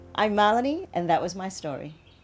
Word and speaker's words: Malini: was coming home so how do you say my name m a l i n i I say it malan that Indian from India